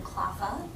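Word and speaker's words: CLPHA: Um, so we pronounce that acronym Klafa, but for those of you who aren't familiar with the organization, we are a national nonprofit.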